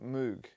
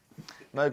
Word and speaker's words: Moog: not you don't say it's not Robert moo it's Robert do you know how it's pronounced his name Moog never knew that MOG is in Vogue me um first